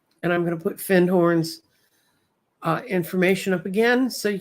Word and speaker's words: Findhorn: And I'm going to put Findhorn's information up again so you can go look for it. It's really spelled like Findhorn, but the Scottish don't say the D.